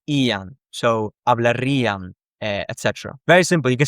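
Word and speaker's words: hablaría: one word which is hablaria. You add ear. And here the stress is on the ear.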